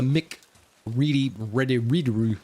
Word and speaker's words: McCreary: But did you know that the composer, Bear McCreary, I forget how to say his last name, but it is a McReady kind of sound.